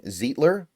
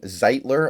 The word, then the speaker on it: Zeitler: average annual salary place got Kevin zetler Kevin zeitler I think actually is how you pronounce it just about to